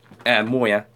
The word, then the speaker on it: Moyer: And you know, number 12, Matthew Moore, Moyer, not Moore, because that's not how you say it.